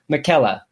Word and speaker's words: McKella: See, now this is the type of super chat I like, because she ends it with, my name is pronounced McKella.